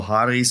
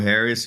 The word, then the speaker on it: Haris: will find me if you look for Haris or Harris you will still find me and I very